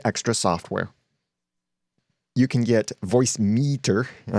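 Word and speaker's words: Voicemeeter: You can get Voice Meter, and I say it like that because it's Voice Meter, but it's MEETER is the spelling of it.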